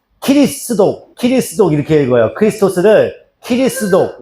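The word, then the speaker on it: キリスト教: 지두 그래서이 단어가 일본으로 넘어가요.이 지두라는 단어가 일본어로 넘어가는데 일본어에서 그 발음이 키리스독 키리스독 이렇게 읽어요.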